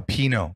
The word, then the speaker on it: Pinot: Pinoy's Palette, I think it was called. Oh, Pinot. Pinot like Palette. The wine, losers.